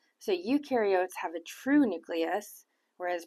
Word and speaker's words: eukaryotes: outside the nucleus so you can remember that U rhymes with true so ukar have a true nucleus